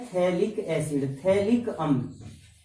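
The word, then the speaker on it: phthalic: इसका सामान्य नाम होता है थैलिक एसिड, थैलिक अम्ल, ये इसका सामान्य नाम होता है। यहाँ पर P साइलेंट होता है, तो थैलिक अम्ल इसका नाम होता है।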